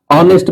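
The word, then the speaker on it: honest: प्रयोग हमने किया है ऑनेस्ट man honourable man एच का उच्चारण साइलेंट हो गया है और ओ का उच्चारण है इसलिए इसके पहले एन है हमरस मैन इसका हमरस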